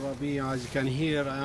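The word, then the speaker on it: Rabie: My name is Ratib Rabia.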